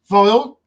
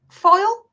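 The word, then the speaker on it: phial: Foil? It's not foil. It's vial. Oh, dear me. Yeah, There you go. There you go. pH. Foil. But that's how you spell it. Well, why spell it with a pH?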